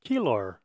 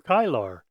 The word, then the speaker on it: Kilar: This is the Kilfitit Par or Kilar or Kyar depending on how you uh want to pronounce it. I've I've now heard it pronounced several different ways.